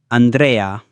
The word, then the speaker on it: Andrea: Arnold, Andrea, Andrea, Andrea, Amelia, Amelia, Amelia. E. E is pronounced like the E in bet or as in the exclamation, A.